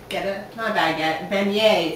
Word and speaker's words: beignet: Beignet.